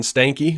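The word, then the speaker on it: Stankey: it was big yeah uh AT&T Chief John Stanky which Apparently that is how you say that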